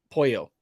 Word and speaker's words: pollo: uh ali's saying uh polo is chicken in spanish pronounce uh pollo well my bad uh